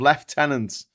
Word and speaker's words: lieutenant: Uh lieutenant instead of left tenant. Um yes, we do say left tenant, but that I guess that again that's an English Englishization from a much earlier time. Um, we do say left tenant is the lieutenant.